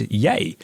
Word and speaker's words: Yea: That is spelled Y E A but it's pronounced Yay.